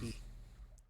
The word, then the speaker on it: quay: 2 tiny figures stand a little further down the quay, unmoving, as if awaiting your approach. Pretty sure it's pronounced key. Do what? Pretty sure Quay is pronounced key. I think.